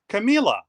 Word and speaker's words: Camila: And it's Camilla rhymes with tequila. Oh, Camila.